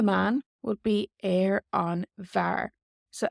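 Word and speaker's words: bhfear: BH is usually pronounced like a V in the Irish language.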